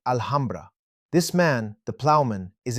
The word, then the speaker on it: Alhambra: When Spaniards learn to say it, they'll pronounce it Alhambra.